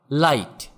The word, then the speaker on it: light: আবার লাইট, LIGHT, এখানেও GH এর উচ্চারণ হবে না।